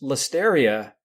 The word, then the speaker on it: Listeria: like look you just listeria rhymes with hysteria so if we could